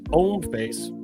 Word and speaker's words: Hommeface: That's Homeface, pronounced like the French.